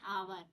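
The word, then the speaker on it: hour: it took us एन आवर आवर में आपको मैंने आपको बता ही दिया कि आवर में एन आएगा क्योंकि यहां पर H silent we denied eight N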